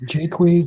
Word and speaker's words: Jaques: Yes, and the last name is pronounced Jaques, but I accept Jacques from anybody.